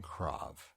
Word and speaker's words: Krav: You look at it's Krav with an American pronunciation, Krav. When I called them and was talking to them and scheduling the trial, they kept saying Krav. So I know Krav is a correct pronunciation for the first part.